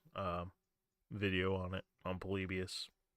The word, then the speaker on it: Polybius: video on it on polybius it's like polybios is if you want to like spell it out p-o-l-y-b-i-u-s I believe foreign excuse me sorry